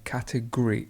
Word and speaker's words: category: so it's category so the stress is at the beginning and we just say category and we almost lose the o completely it disappears great cause cause and the